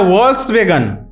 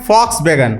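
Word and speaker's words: Volkswagen: अब फॉक्सवैगन को हम लोग क्या बोलते हैं आप खुद ही देखिए, वो लिखता है वॉल्क्सवैगन लेकिन हम लोग बोलते हैं फॉक्सवैगन, उसका उच्चारण है।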